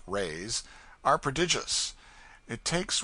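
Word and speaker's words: reis: the lady hails from the portuguese pennies or reys pronounced rays are prodigious it takes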